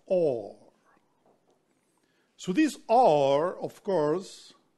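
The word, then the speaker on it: אור: This light that emanates from the absolute is called in Hebrew, Or, is written with Aleph, Vav, Resh, Aur, and is pronounced Or.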